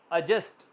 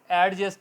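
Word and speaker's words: adjust: यहां भी D silent अजन अजस्ट अजस्ट एडजस्ट नहीं कहेंगे अजस्ट क्यों क्योंकि फोरन बाद जे आया तो यह थे हमारे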